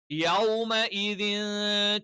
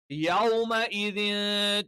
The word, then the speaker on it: يومئذ: യൗം, യൗമ എന്നുള്ളത് യൗ, ഔ എന്നുള്ള ഉച്ചാരണം തന്നെ കറക്റ്റ് ആയിട്ട് വരണം.